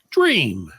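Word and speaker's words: J'Ream: So it's actually, Freddie, have a guess, or you think Dram is the correct answer? Dram is good as good. According to the person that named this child, J apostrophe R-E-A-M is pronounced dream.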